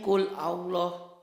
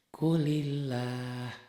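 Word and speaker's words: قُلِ اللّٰهُ: Gimana bacanya Qul Allah? Oh, kalau nyambung ternyata ini berubah jadi ini tuh. Kulillah itu huruf mati. Jadi dibantu kasroh. Kulillah.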